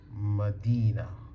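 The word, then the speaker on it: مدينة: Example, we have So, we have this word is madinah. Madinah. So, m d e n a. Okay. So, madinah Where is the ya?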